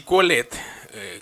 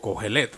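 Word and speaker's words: Qohelet: Así Coelet, Coelet o Cogelet, como bien lo quieran pronunciar, y Kierkegaard, Soren Kierkegaard, que viene siendo el padre del existencialismo, tiene algo en común.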